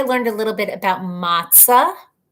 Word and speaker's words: matzo: a little bit about matzah. Actually pronounced matzo, right, Dave? Nobody pronounces it matzo, but it's spelled matzo, and you're supposed to say matzo, but everybody says matzah.